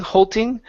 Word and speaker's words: holding: Instead of holding, okay, give me an L in the middle of the word. So it's holding. Whole thing. With a D instead of ting, holding. Move your tongue back from your teeth. Holding. Okay. Holding. Okay. Yeah, you're almost there. But your L is sounding nice and clear. Okay, I can hear the L now, but we just need the D.